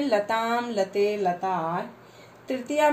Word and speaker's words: लता: प्रथमा व्यक्ति में है लता लते लता है, देखो इसमें विसर्ग नहीं है, लता लते लता। द्वितीया में है लताम लते लता।